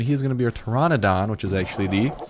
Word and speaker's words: Pteranodon: on stream and he's going to be a Pteranodon which is actually the correct pronunciation of it and there we go disappeared uh the correct pronunciation is Pteranodon not pterodon like I was saying or it's not pterodactyl